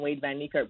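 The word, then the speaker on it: Wayde van Niekerk: Wade Van Niekerk.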